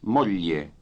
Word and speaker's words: moglie: very well, thank Signor capitano, vorrei presentarle mia moglie Jane. you. What is, Moglie. remember that the GL combination is pronounced lieu as in million.